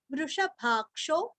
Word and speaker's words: वृषभाक्षो: ता, गोपतिर गोप्ता वृषभाक्षो, वृष यहाँ पे षटकार का श है, वृषभाक्षो वृषप्रियः षटकार के वृष के षटकार के श के ऊपर आघात देना है, वृषप्रियः वृषप्रियः।